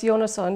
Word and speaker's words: Jonason: government doesn't recognize um well it's jonason is the right pronunciation of my uh canadian last name but in iceland we